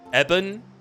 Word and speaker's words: Yevon: This reading also made me remember Yevon is pronounced as Ebon, like ebony.